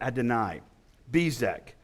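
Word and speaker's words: Adoni-Bezek: and six they found they found adani bezak some people pronounce that Adonai bezak and and fought against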